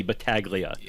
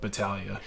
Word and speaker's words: Battaglia: If you want to be American about it, you can go hard G. I I I usually just say Baglia, but I I always appreciate when when people go Battalia.